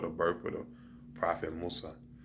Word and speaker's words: Musa: birth of the Prophet Musa, or which Musa means Moses. That's the how they say it in the Arabic language, and that's the pronunciation.